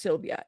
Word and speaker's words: Sylvie: think it is so her name is pronounced Sylvia it just happens to have an ie at the end in order to keep